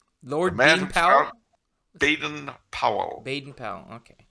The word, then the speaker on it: Baden-Powell: manpower they didn't Powell Baden Powell okay he actually pronounced his baton pole but that sounds kind of weird and he was the